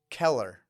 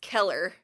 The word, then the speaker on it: color: Keller. That is color with a C, C-O-L-O-R. But it is pronounced Keller in central Pennsylvania.